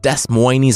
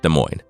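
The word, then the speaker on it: Des Moines: 16 km west of Des Moes Iowa just kidding I I know it's pronounced De Moine it started in 1903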